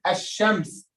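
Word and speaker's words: الشمس: Who can tell me the lam in the word ash-shams? The lam in the word ash-shams is silent or not?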